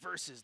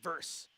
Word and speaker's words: versus: It's Blazers versus the Grizzlies, not verse. Giving Mike Rice saying pow casall for years. Uh, verse is a widely widely approved informal pronunciation of verses.